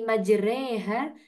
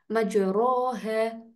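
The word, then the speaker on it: مجراها: Bismillahi majreha nah majreha kata re ini kan harusnya ro majroha Nah tapi di sini nah ini ada kekhususan sendiri yakni namanya imalah maka fathahnya kita miringkan ke kasrah dibacanya seperti huruf e nah kemudian huruf r-nya dibacanya tarkik atau tipis Jadi bukan yang tebal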